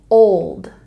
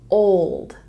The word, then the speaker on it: old: we pronounce this word even though there is an L it can sound a bit softer old old old and this here